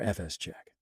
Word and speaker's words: fsck: will be FS CK sometimes referred to as fist check FS Che Fisk physic fi fock but really there is no greed upon pronunciation that's why pretty much you want to pronounce it fsck for file system check or FS check all right so anyway